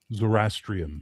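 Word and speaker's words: Zoroastrian: Zorastrian. Zorastrian.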